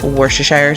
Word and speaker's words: Worcestershire: want and just so you know it is worcestershire sauce um I think it's so funny when I see people mispronounce it drives me crazy but I used